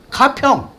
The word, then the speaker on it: 가평: 똑같은 이름에다 이렇게 붙이는데 K py O 한번 발음해 보세요 뭐예요 가평 이게 가평인구 해 가지고 알아봤더니 정말